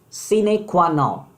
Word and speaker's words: sine qua non: Moving to word number 4, my dear friend, it's a very important word, and its pronunciation is sine qua non.